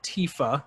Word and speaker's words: Tifa: of avalanche would be Tifa Lockheart or TIF uh however you want to say her name I mean I went I went Tifa with it but yeah what and